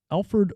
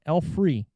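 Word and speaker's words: Alfre Woodard: mitchum is preston rhinelander alfred woodard woodard woodard is grace oh i said it wrong alfree okay alfree she was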